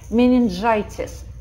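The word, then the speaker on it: meningitis: Менингитис. Подчеркните здесь букву G, кто пишет в тетради, что она встретила здесь с I. Еще раз посмотрите на правила. G плюс E, I, Y – это G.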